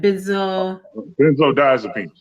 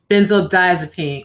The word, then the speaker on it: benzodiazepine: And especially when you say that there is no help for someone that's addicted to these how is it pronounced again? Benzodiazepine. Benzodiazepine.